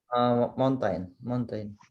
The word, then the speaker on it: mountain: Of course, if it's English, the T is clear.